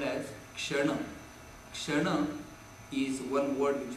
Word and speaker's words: kshana: Going to this new terminology, it is called as kshana.